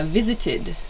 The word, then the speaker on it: visited: way to do it repeat the verb visited yeah visited so it has an ID sort of pronunciation at the end visited another example is